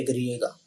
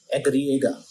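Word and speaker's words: i griega: हैं 21 और व का साउंड होता है एग्रिएगा एग्रिएगा व का और जेड का साउंड होता है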